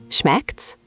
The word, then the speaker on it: Schmeckt's: Wait, it sounds like it's all squished together. It is. That's a great observation. It's actually a short, casual squish of schmeckt es, but Germans just say schmeckt's.